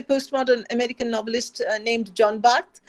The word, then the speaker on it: Barth: But this is from a postmodern American novelist named John Barth. It's B-A-R-T-H. The French philosopher is B-A-R-T-H-E-S, both pronounced Barth.